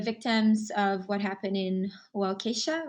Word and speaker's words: Waukesha: So for the victims of what happened in Waukesha, right?